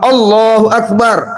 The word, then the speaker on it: Allahu Akbar: Makanya dalam takbir menyebut lafaz Allah itu enggak boleh kita memanjangkan a-nya. Contoh Allahu Akbar.